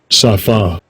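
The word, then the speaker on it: שָׂפָה: 그러면 발음 어떤가 봅시다. Strong's H8193 Safa Safa.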